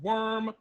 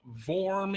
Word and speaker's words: wyrm: for the worm i've i've heard it pronounced worm wear uh vorm even uh i like it i like worm i like it with the vm actually but that's something weird